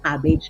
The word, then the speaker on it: CABG: Pronounce nyo lang po siya ng cabbage. Yun lang po ang pronunciation niya.